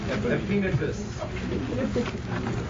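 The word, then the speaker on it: Epaenetus: I think it's a penitist, but let me find out. Let me find my pronunciation mark. You're looking up Romans 16:5 while he's checking it out. It is a penitus.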